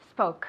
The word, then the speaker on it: spoke: Spoke. Spoke. Very good. Careful with the pronunciation. Mamin said it perfectly, but you at home, remember, spoke, as if, como si tuviese una U.